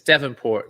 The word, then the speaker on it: Davenport: It's Devonport, like the Devonport. place in Devon. I mean, the place in England called Devon, which is on the coast. So you just got to think Devonport.